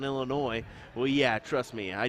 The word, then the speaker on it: Illinois: Zach letting me know the S is silent on Illinois well yeah trust me